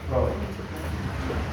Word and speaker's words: Freud: Se escribe Freud, pero se pronuncia Freud.